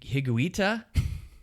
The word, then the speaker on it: Higuita: he had he had a teammate um Hig higuita nailed it you nailed that pronunciation GL you're saying this and not me